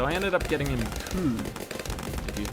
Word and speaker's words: Coup: And so I ended up getting him Coup. If you've not played before, it's spelled C-O-U-P.